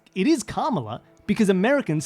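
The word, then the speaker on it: Kamala: would correct people say no no it's not Cara it's kala but it isn't KLA it's it is carala because Americans say karma put a Karma there to Mark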